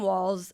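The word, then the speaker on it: Walz: cons this is Tim Walls I just found out that it's walls and not Waltz so I have been mispronouncing it he's the governor of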